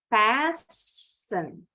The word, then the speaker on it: fasten: Fasten, listen, hasten, glisten. Ada dua. Ternyata penekanannya, stressingnya ada di suku kata pertama.